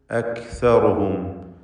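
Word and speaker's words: أكثرهم: വമാ കാന അക്സറുഹും മുഅ്മിനീൻ. അക്സറുഹും നേരത്തെ തായിൻ്റെ ഉച്ചാരണം പറഞ്ഞതുപോലെ കാഫിനും ഹംസാണ്. അക് അക് എന്ന് ഉച്ചരിക്കണം. അക് എന്ന് ശബ്ദം ഹറക്കത്ത് പോലെ ചലിപ്പിക്കരുത്.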